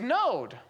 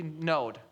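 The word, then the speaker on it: נֹאד: The Hebrew word for bottle is node. It's a different word spelled differently, pronounced exactly the same way. N O D node.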